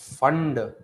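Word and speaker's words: Pfund: Lyman Balmer question bracket फंड P silent है बेटा है ना फंड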